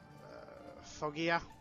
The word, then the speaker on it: Foggia: And then from there, I'm hoping it's not so mountainous, heading up towards Foggia. That's how you pronounce it.